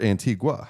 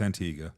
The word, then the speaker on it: Antigua: then when you said Antiga or Antigua how do you pronounce it it's Antiga Antiga um isn't that where